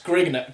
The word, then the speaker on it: Grignr: That's Grigner. Grigner is spelled Grignr. Grigner. Grigner. Is it not greener? Greener. Well, it's not going to be green if it's got a G in it, is it?